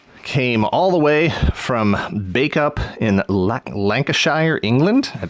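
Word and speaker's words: Bacup: to look that up this person was nice enough to give me the pronunciation spelled BAC u P bake up and she was nice enough to give me the pronunciation of that so I didn't butcher it even though I almost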